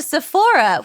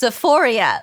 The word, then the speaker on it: Sephora: And she sends, and Kimmy's sending him to Sephora, which he thinks is pronounced Sephoria, like the HBO show So, Euphoria.